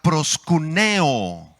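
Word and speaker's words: προσκυνέω: la palabrita griega es la palabra griega prost cúneo con acento en la icapp prost cúneo esta palabra es un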